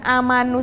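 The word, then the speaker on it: آمنوا: Makanya waktu anak-anak nemuin tulisan amanu seperti ini, dia bukan sukun tapi bulat tapi kecil, makanya dia bacanya amanu. Pendek, gitu.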